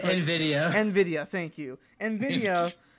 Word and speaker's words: Nvidia: the chip makers on new Veda if you pronounce it Nvidia Nvidia thank you and